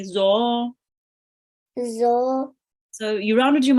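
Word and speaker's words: ظ: This is a dod or a zo. Make sure to pronounce it as a zo.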